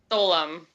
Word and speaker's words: Soleim: Okay, and your last name is pronounced what? Soleim. Soleim.